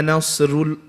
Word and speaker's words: نَصْرُ: So you have to bring it in. This is very important, because if you don't bring it in, you're going to make it light. You're going to say it like this. إِذَا جَاءَ نَصْرُ, not ru, okay? إِذَا جَاءَ نَصْرُ اللَّهِ. So the sad, the ra, and the word Allah, lafzul jalala, is heavy.